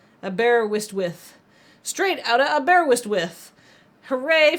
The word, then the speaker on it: Aberystwyth: No one knows how to pronounce it. Welcome back. Aberwitch.